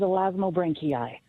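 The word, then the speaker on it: Elasmobranchii: Scientific name for sharks and rays is elasmo branki. Elasmo branki.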